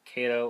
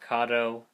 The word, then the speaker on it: Kato: Made by Kato or Kato, however you want to pronounce it.